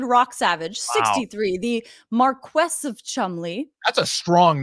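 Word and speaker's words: Cholmondeley: like Chumalody, but it's Chumley. It makes no sense. And she is married to David Rocksavage. Yes, David Rocksavage, 63, the Marquess of Chumley.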